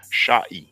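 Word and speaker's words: šꜥy: is the ain, and this is the e sound transliterated with the y. So sha'i. Okay, but we have other sources to go through.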